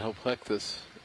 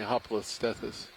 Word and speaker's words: Hoplostethus: And that's going to be that Hopleuctes, I think. Excuse me, Hoplostethus.